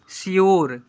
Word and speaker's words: sure: हैं, PURE प्योरो, ऐसे पढ़ते हैं, प्योरो, SURE श्योर, यहाँ पर CURE क्योर, ऐसे पढ़ते हैं।